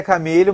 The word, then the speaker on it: Chameleo: Você pronuncia Camilho, mas é Chame, Chama, me chamando, é o que importa.